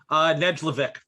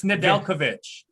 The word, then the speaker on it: Nedeljkovic: How do you say the goalie's name? Nedjlovic. I'm a good goalie pronouncer. Remember? Nedjlovic. No, it's Nedeljkovic.